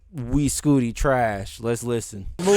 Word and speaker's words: Uy Scuti: We Scooty. The biggest star in the universe. That's how you pronounce it.